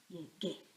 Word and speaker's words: Llegué: So I need to put a U after the G, and that gives it the hard G sound. Llegué.